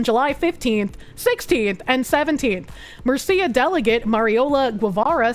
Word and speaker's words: Murcia: The regional newspaper Opinión de Mercuria, I keep pronouncing that Mercuria, but I'm pretty sure it's Murcia, reported at the time.